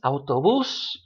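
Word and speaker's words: autobús: so first things first if a word has an accent mark written on it you're going to stress that syllable that vowel that has the accent mark so for example lobby's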